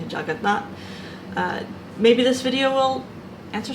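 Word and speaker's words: Jagannath: maybe you've heard of the bad English mispronunciation juggernaut. It's actually Jagatnath.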